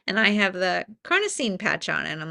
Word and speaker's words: carnosine: And so glutathione came out, AccuLife came up, and this carnosine, is that how you say it? Came. Carnosine. Yep. Mm-hmm.